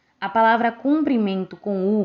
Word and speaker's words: cumprimento: temos aqui as palavras cumprimento e comprimento Como podemos ver é uma única vogal que muda a pronúncia e o significado da palavra a palavra cumprimento com u significa cumprimentar